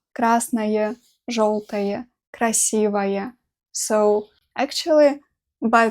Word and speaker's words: красное: Красный дом, красная книга, красное слово. I pronounce it like «ая» at the end, красное, even though we spell it like «ое».